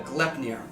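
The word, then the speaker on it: Gleipnir: are they monsters uh it's spelled g-l-e-i-p-n-i-r uh glep-near you might it looks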